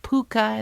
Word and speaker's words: púca: I know about the Púca, pronounced Púca, and the Cedar, pronounced she, and all the rules about iron and salt and rowan berries.